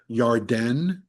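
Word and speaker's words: ירדן: Now, if you look at the word Jordan, the Hebrew word Jordan, it's the Yarden, how you say it in Hebrew, and really means to descend down.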